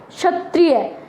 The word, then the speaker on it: क्षत्रिय: जाता है ठीक है कैसे उच्चरित करेंगे इसको क्षत्रिय है ना क्षत्रिय तो कैसा उच्चारण हुआ इसका क्षत्रिय अगर हम यह जो